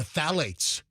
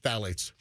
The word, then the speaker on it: phthalates: chemicals known as the phthalates. Mm-hmm. It looks like it's spelled phthalates, but it's pronounced just phthalates because it's spelled PHTHALATES. Yeah. Was it a silent PH?